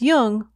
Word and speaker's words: Jung: Just be sure to pronounce Jung with a hard J.